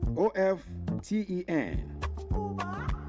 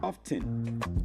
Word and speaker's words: often: O F Ten. You find some people pronouncing it as often often. But I will tell you tonight that the T is silent.